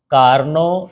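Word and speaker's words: Carnot: 11.1 और यह है कार्नो इंजन और अंग्रेजी में ऐसा लिखते हैं कार्नॉट इंजन टी साइलेंट रहता है तो उसको क्या पढ़ेंगे कार्नो इंजन पर कार्नो इंजन है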